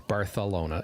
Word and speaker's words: Barcelona: So it's Bartholona. It almost sounds like you have a lisp, but that is actually the way it's meant to be pronounced locally.